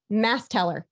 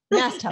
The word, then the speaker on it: Masteller: Masteller. Yes. Masteller.